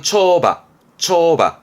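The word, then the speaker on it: 跳馬: 발음은 초바.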